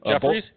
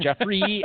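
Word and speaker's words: Jeffery: Jeffries? Alshon Jeffrey. Alshon Jeffrey. Only we know how to pronounce Alshon Jeffrey. Yeah. His last name. 2 catches. Not Jeffries, you morons.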